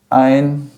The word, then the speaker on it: ein: Ein, por quê? Porque o ditongo EI sempre vai ser pronunciado na forma de AI. Sempre vai ser AI. Ou seja, EI não é EI, é AI. Em qualquer momento que ocorre esse ditongo, você nunca vai pronunciar o E.